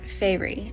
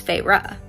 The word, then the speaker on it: Feyre: our main character's name it is not fairy as i thought it was it's feyre it was very close so i'm on chapter 4 and a fairy has just entered feyre's home and i just